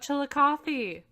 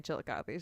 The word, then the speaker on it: Chillicothe: I just listened to the one where they were in Cleveland and they talked about Chillicothe.